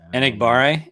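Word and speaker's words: Enagbare: Enigbare. There you go, Danny. Danny's on it with the pronunciation.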